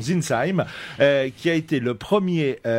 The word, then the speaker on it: Sintzheim: Zinsheim. Zinsheim. Voilà, c'est pour la prononciation Zinsim qui a été le premier grand rabin de France et président du consistoire central des Israélites de l'Empire.